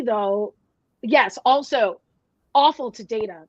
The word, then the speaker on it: Data: she mispronounces his name and he just says, no, it's Data, right?